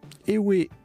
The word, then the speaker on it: Ewe: Ewe ou Ewe, on peut prononcer les deux adjectifs et noms masculins d'un peuple du Togo.